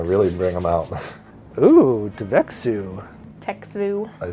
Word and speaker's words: Txevu: bring them out ooh devexu I say Tex food as well that's a weird one this is like an eye test txevu oh the tea is silent yeah because I mean